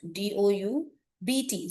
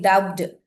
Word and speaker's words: doubt: Okay, so like in the this thing word doubt, DOUBT. So we are not saying doubted, we say doubt, that.